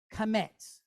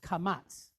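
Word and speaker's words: קמץ: Now what we're going to do is we're going to put what they call kamets. Kamets. Sometimes you hear it pronounced kamats. Either way, it's good.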